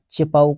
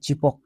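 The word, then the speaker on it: Chepauk: উড়িশা ঠিক আছে দেখ এটা চেপাউক হবে না চিপক হবে চিপক লিখে দিচ্ছি চিপক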